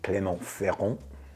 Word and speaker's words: Clermont-Ferrand: chance to go to Clermont-Ferrand, saying it like a boss. You don't know how many times I practiced that with Pierre. He was helping me with that, the French pronunciation of Clermont-Ferrand.